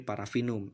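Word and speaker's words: Paraffinum: Contoh tulisan Parafinum maka dibaca menjadi Parafinum. F-nya hanya menjadi 1.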